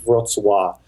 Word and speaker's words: Wrocław: Yeah, so the W is a V and the L, there's a L with a line through it. So it's like Wrocław. But yeah, that's exactly how you pronounce it.